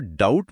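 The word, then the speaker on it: doubt: जैसे नाइफ में के चुप है, ऑनेस्ट में एच की आवाज नहीं आती, और डाउट में बी बस मौन खड़ा है।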